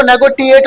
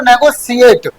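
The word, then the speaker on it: negotiate: अब इसको नेगोटिएट मत बोलना, ठीक है, क्या बोलोगे आप, इसको नेगोशिएट, है ना।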